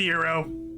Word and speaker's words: gyro: Gyro. I know it's pronounced euro.